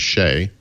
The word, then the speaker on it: Shay: pronounced the name of the main character, which is Shay, which I in my head I had been pronouncing as Shea the whole time.